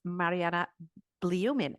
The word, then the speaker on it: Marianna Blyumin: And her name is Marianna Blyumin. Oh, my goodness, I should have checked that before. Did I pronounce that right?